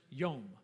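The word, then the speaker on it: יום: In Hebrew, there are two words spelled exactly the same way, both of them pronounced yom.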